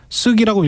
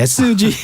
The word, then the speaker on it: SG: 지금부터 시작하겠습니다 안녕하십니까 안녕하세요 오늘은 쓰기라고 읽으면 안 되겠네요 sug 사태로 번 주가 조작